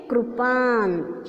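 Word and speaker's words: कृपाण: इसका उच्चारण किस तरह से किया जाता है? कृपान।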